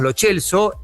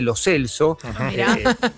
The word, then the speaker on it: Lo Celso: Todos le decimos lo Chelso, él dice lo Celso.